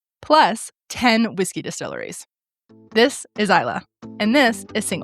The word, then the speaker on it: Islay: And eventually I mentioned the whiskey part and he goes, "Oh, you mean Isa." So yeah, even though it's spelled I S L A Y. Isa is how it's pronounced.